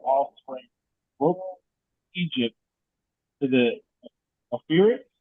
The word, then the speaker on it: Euphrates: Broke Egypt to the Euphrates. How do you say that? Euphrates?